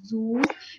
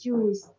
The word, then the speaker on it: zoos: Life is a collection of many big zoos, mispronounced and imperial as Jews.